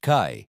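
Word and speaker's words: 开: Our next character number 48 is kai pronounced kai. It's a short sharp sound like the word kai or sky without the s.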